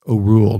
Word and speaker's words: Orual: Doris Myers says that looking at all the other names, she believes it should be pronounced Orual, not Orual or Oriole or Oprah. Those are all wrong.